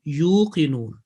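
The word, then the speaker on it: يوقنون: So the pronunciation will be wabil akhirati hum yuqinun. Yuqinun and yu'minun is a lot of difference between the two. You without any jerk, simple elongation, yuqinun.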